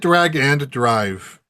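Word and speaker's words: Drag x Drive: Uh yes, I think drag drive is uh is is it drag and drive or is it drag drive? They pronounced it drag and drive during Okay, drag and drive.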